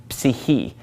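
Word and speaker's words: ψυχή: English someone's psyche well psyche comes from the Greek word see he see he and they do pronounce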